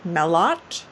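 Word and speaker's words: Mailhot: last name is i don't know if you pronounce it mellot but it's m-a-i-l-h-o-t it's it's a as really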